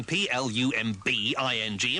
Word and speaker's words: plumbing: a really annoying one fancy spelling something p l u m b i n g and pronouncing it Plumbing that's really dumb and now back to